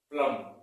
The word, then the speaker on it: plumb: मैंने इसको पढ़ा है प्लम, जबकि लिखा जाता है PLUMB, प्लम। क्या पढ़ा जाता है? गलत प्रोनाउंसिएशन इसका प्लम और राइट प्रोनाउंसिएशन इसका प्लम है।